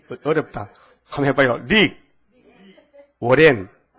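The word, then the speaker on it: Rick Warren: 릭 워렌. 자, 발음이 들어가요?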